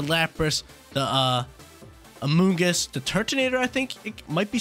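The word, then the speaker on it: Turtonator: lapras a mungus milotic tertinator is how you pronounce it a little dragon fire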